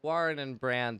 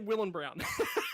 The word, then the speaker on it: Warren and Brown: It's Warren and Brown Tools. Warren and Brown. I was about to say Will and Brown, so I'm glad I didn't.